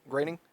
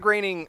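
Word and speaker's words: Groening: Matt groaning like he's I guess now he's the reason why I grining yeah it's pronounced graining sorry you're um Matt Matt graining I I can't believe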